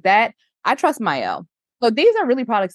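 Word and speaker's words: Mielle: hair I always say myel wrong I think it's myel yeah it's my listen I always say it wrong too but I believe it is myel yes said it wrong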